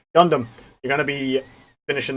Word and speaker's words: Gundam: So you finished the mission, and you've got the rest of the story on Dungum. Dungum. I know you're going to go crazy because I was pronouncing it right. Wrong. Gundam.